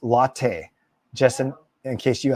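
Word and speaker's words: Lotte: oh Gerald Gil said that lot is pronounced latte just in in case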